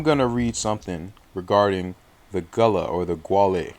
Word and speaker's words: Guale: uh say that uh it's it's guava but you pronounce it gullah so it's spelled g-u-a-l-e some of you will see it like that then you see g-u-a-l but both of them you will pronounce it gala so it's i'm because